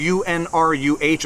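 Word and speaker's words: Unruh: violations, and at the state level arguing UNRU, U-N-R-U-H, apparently I mispronounced it in my last video, UNRU violations.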